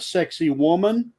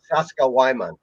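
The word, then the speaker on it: Sacsayhuamán: guide uh say uh if it helps you remember the name of that town uh you an American might pronounce that sexy woman what you just said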